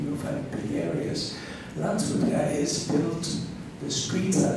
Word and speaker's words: Landshut: You would pronounce it Landshut, and it is Landshut.